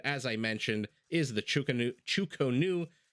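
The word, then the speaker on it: Chu Ko Nu: Now, that unique unit, as I mentioned, is the Chukonu. I've heard it pronounced about 17 different ways, anything from Chockies or Chuckies all the way to Chukanus.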